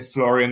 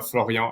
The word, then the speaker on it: Florian: a French perfect yeah you can you can say Florian or floron as you want perfect so floron quick